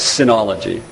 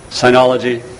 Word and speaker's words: Sinology: my favorite PhD students refers to my profession as Synology and I don't like the sound of that but it's actually a legitimate alternative pronunciation Synology Synology it is a